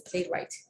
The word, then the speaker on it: playwright: ring or answer okay or playwright is not playable right it's a playwright w is silent it's word sorry it's